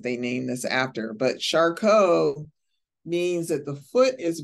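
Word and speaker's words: Charcot: t and that's foot it's like a French uh name uh of a a medical person in the past that they named this after but shco means that the foot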